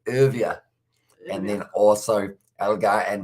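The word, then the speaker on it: Erwee: down the bottom airway always say his name wrong but it's uh urvia and then also elgar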